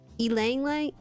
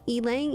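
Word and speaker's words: ylang-ylang: E, it's pronounced E. Elang. Elang.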